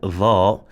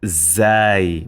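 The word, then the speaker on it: ظ: Here I should highlight that dha is not the flat version of zai. Where is zai here? It's not the flat version of zai. So we don't say za. That's wrong.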